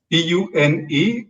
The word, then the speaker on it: Pune: here can pronounce that it is spelled as p-u-n-e but you pronounce it as pune okay all right so